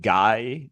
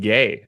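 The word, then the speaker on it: Gueye: So that is not how you pronounce his last name. It is exactly as funny as you would think it would be, which is interesting given their team. They must be cornering the market on funny names to say. That would be Mohamed Gay, actually.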